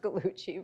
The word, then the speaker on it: Gallucci: I never would have thought that her last name would be pronounced Gallucci, but she helped me figure that out.